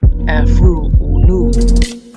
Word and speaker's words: Afroo: All of the books in this series he published using the pen name Afroo, pronounced Afroo Oonoo, which he described as